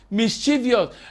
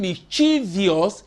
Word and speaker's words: mischievous: Like I've given you, many students, if you say, spell the word mischievous, mischievous, M-I-S-C-H-I-O-U-S, because you are saying mischievous, whereas there is no I in mischievous. That error is due to wrong pronunciation.